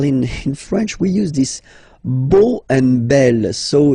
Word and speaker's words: beau: So remember this E, A, U combination of vowels only give you the sound O, beau, okay?